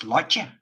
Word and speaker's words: Lotje: And I noticed that a lot of people had difficulties pronouncing her name. It's not that I mind, I can understand, but it's just Lotje.